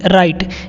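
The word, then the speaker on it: write: लिखना, WRIT, राइट। यहाँ पे जो W होता है वो साइलेंट होता है। ठीक है, तो इसको हम लोग राइट नहीं पढ़ते, इसको क्या पढ़ते हैं? राइट पढ़ते हैं।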